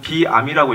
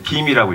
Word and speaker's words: Veeam: 회사명인데, 저희 회사 이름인데, 영어를 잘하시는 분은 비암이라고 읽으실 수가 있을 것 같은데, 비암이 아니라 이제 빔이라고 있습니다. 그 이유가 이제 VM을 그 외국 사람들이, 특히 유럽 사람들이 빠르게 읽을 때 빔이라고 읽는다고 하더라고요. 그래서 이제 뭐 예를 들면 우리가 뭐 스카시 케이블을 SCSI 케이블이라고 안 부르듯이, 그러니까 그 VM을 빠르게 이제 부르면 그냥 빔이라고 한다고 하더라고요.